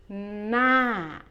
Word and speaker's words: หน้า: ล้าง And the last syllable หน้า is a falling tone. หน้า อ่างล้างหน้า a sink.